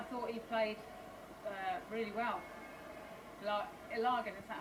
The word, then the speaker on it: Ilagan: Ilagan, is that how you say it? Yeah. Ilagan, yeah.